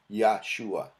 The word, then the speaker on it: Yeshua: no hay vocales entonces la y griega acento alto suba yeshúa se puede pronunciar verdad Bueno le da